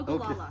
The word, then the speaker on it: Ogallala: Ogallala.